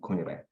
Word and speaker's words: Kunire: I know my last name has 3 vowels together, so it's kind of awkward, but it's pronounced as Kunire. It's supposed to actually be a hyphen between the last U and the I.